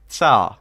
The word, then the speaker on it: tsar: with daniel very fun it's pronounced tsar thank you like t is like i assume like japanese like two right uh i assume